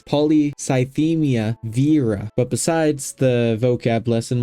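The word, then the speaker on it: polycythemia vera: you have that because it's not pronounced Vera it's not ol Vera okay it's poly cymia Vera but besides the vocab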